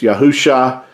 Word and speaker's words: Yahusha: no letter J and the Messiah name could not have been pronounced as Jesus it is a Hebrew his name is Hebrew it's yahusha our Messiah Our Savior